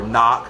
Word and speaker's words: knock: If it's a silent K in knife or knock, right?